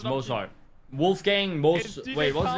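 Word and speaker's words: Wolfgang: I I might be able to You also No German would pronounce it gang like in gangster.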